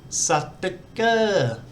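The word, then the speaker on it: สติกเกอร์: And this word here is satika, which is the English word sticker with a Thai pronunciation.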